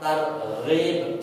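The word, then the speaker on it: ترغيب: 16 adalah untuk tarhib nah ini bahasa Indonesia nulis tarhid itu dari huruf ha tarhib itu artinya mempertakutkan sesudah targib ini pakai ghin ya Gin itu menggembirakan jadi dalam bahasa Arab targib pakai ha sama targhib pakai gain ini ee artinya justru berlawanan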